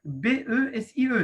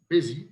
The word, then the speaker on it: BESIE: Ben, je vous remercie beaucoup, notre cher voisin, Sifouzi Adil, du bureau BESIE. C'est comme ça que ça se prononce. C'est ça. BESIE.